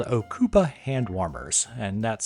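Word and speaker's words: Ocopa: Another great item for the overlander on your list would be these things called Okupa hand warmers, and that's spelled O C O P A.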